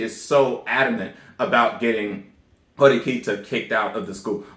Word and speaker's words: Horikita: say at this time i keep saying hiroquito when it's horikita and i'm very sorry about that i will pronounce her name right one of these damn